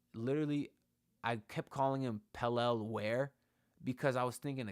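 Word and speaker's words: Pelle: interview with Pelel, and they called him Pelel. So from now on, I'm calling him Pelel Larson. And if you don't like it, I'm sorry. But that's how he pronounces his name.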